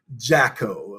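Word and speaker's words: Jacquot: mean she is absolutely gorgeous it's it's the jacko um pronounced um jaco okay and there is absolutely no visible difference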